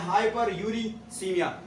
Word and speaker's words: hyperuricemia: इसका प्रोनाउंसिएशन है हाइपरकैल्सीमिया और इसका मतलब है हाइपर ऑक्सिलूरिया और इसका नाम है हाइपर यूरिसीमिया।